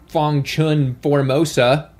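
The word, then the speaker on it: Fong Chun Formosa: 2020 was acquired by the tuna mega giant Fangchun Formosa, that's how you say it, which was already supplying the vast majority of their tuna in 2019 before they were acquired.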